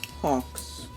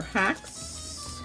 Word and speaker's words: Hacks: this is the original Hawks. Hawks or hacks? Hacks, Hawks. I say ox. The way it's spelled, H-A-C-K-S. You may say Hawks, Hawks or ox.